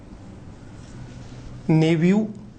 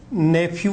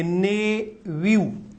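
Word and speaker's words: nephew: Option उसने यहां लिख दिया नेव्यू, नेफ्यू नहीं होता है, नेव्यू, नेव्यू होता है, नेव्यू।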